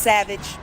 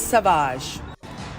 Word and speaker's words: Sauvage: This is not pronounced Savage, it is Sauvage.